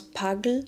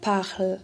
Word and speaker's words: parle: So that person would pronounce pagle instead of parle.